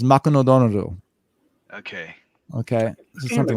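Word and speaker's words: マクドナルド: So McDonald's becomes Makunodonoru.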